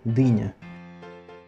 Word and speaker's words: dynia: Польское слово «дыня». И звучит и пишется совсем так же, как русское слово «дыня».